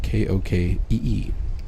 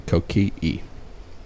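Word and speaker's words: Kōkeʻe: The next one is Kokee State Park, and it's spelled K-O-K-E-E, but there's apostrophe between those E's, hence the Kokee. It's probably Kokee.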